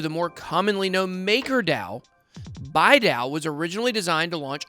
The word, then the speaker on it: Bidao: Pronounced Baidal, although I've heard some people call it about everything else, Baidal is a new Ethereum-based proof-of-stake blockchain that facilitates a decentralized stablecoin.